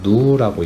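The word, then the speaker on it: ν: 여기에서 이제 우리가 첫 번째로 나오는 이렇게 생긴 거, 이거를 V라고도 볼 수 있는데 엄밀히 말하면은 그리스어 소문자로 누라고 읽어.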